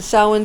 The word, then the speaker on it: Samhain: season of the sa samhain season okay the samhain season it's spelled uh like s-a-m-h-a-i-n but it's pronounced samhain for the pagan festival when you're